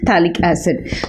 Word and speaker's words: phthalic acid: P is silent, phthalic acid.